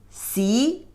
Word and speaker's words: 习: The pronunciation is 习, means practice.